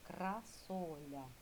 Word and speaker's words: красоля: Так, записали з нового рядочка, з великої букви слово красоля. Кра соля.